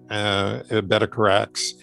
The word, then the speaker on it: Bedecarrax: And the name is Basque, Bedecarrax. Just pronounced exactly the way the spelling, and in Basque, it means seller of spices.